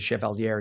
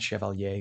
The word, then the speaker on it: Chevalier: Daria Eliza Chevalier, who's the and she does pronounce it Chevalier, not Chevalier, cuz she is I believe Dominican.